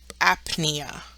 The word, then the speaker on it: apnea: beginning of a term if the p n is in the middle of the term you will pronounce the p and then the N such as in Apnea you do your P